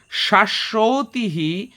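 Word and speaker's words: শাশ্বতীঃ: তয়ামাগামাহামা গামাহা বিসর্গ রয়েছে যেখানে বিসর্গ রয়েছে সেখানে আমরা সুবিধার্থে হ এর মত উচ্চারণ করে নেব শাশ্বতিহি সামাহা শাশ্বতিহি এখানে শাশ্বতি বানামে দেখো দীর্ঘিকার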